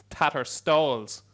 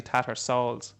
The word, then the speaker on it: Tattersalls: little bit last year you think was tatter stalls so it's not as actually tattersalls which i thought was right yeah it's so early